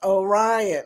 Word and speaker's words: Orion: Orion is pronounced Orion.